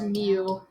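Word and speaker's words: mu: guys know what greek symbol that is it's pronounced mew mew mew this greek symbol means the population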